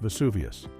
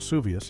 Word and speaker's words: Vesuvius: When Gloria gives her answer about the volcano that destroyed Pompeii, Perez accidentally mispronounced Mount Vesuvius, calling it Mount Suvius instead.